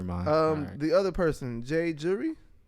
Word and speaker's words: J Jury: is the hardest name jury like jury duty not like jewelry but when Reasonable Doubt